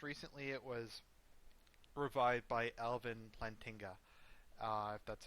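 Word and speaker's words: Alvin Plantinga: hand uh most recently it was revived by Elvin lantinga uh that's how you pronounce his name and that was the formulation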